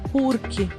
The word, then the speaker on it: porque: Só nessas duas situações, em Portugal, pronuncia-se porquê. Nas outras, quando não há acento, se pronuncia porque.